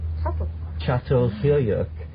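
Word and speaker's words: Çatalhöyük: well yeah yes actually it's still c-a-t-a-l but it's called subtle chateau the overwhelming motif is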